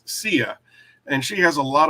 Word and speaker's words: Sia: Now, I was always under the impression that her name was Saya, but when I looked up how to pronounce her name, it actually is Sia.